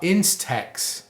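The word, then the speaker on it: INSTEX: the trade Wars there's also the talk about Instax Instax that's which is spelled I NS te X that's a new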